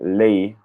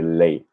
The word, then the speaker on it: lei: Make sure that when you say lei, to pronounce that last I clearly. It sounds like you're saying lei.